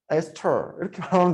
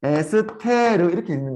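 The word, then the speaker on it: ester: 발음이 잘 안 돼가지고 에스터 이렇게 발음하면 되는데 이렇게 발음 못해.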